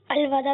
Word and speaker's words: الوداع: درست تلفظ بتائیے، الوداع یا الوداع؟ کچھ لوگ کہتے ہیں الوداع اور الوداع. الوداع درست تلفظ ہے.